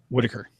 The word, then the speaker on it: Whittaker: And you and I think have, how do you pronounce her name? Whittaker.